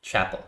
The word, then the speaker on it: Chappell: Is it Richard Yetter Chappell or Chappell? Chappell. Chappell. Rhymes with that.